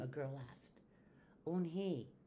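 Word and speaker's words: Unhei: "Unhi," said Unhi. "Ooh, nay?" the girl asked, scrunching up her face. "Ooh, ooh, Unhi," some kids chanted. "No, no," Unhi corrected. "It's spelled U-N-H-E-I. It's pronounced Yun-hai."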